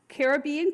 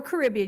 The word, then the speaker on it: Caribbean: Um, and you will be traveling on a fiveight Eastern Caribbean cruise or Caribbean. You can pronounce it either way aboard the Freedom of the Seas.